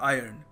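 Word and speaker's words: iron: सो आपको ध्यान रखना है कि इसको सही तरीका है प्रोनाउंस करने का आयरन कि कभी किसी इंटरव्यू पे गए या फिर कहीं आपको अच्छा एक इंट्रोडक्शन देना है अपना।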